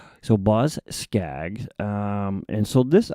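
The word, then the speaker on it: Boz Scaggs: to Me by Now, I think I'm pronouncing this right. Bos Scaggs. Or it could be Bose, but I'm pretty sure it's No, it's Bos. It is Bosag. Yep.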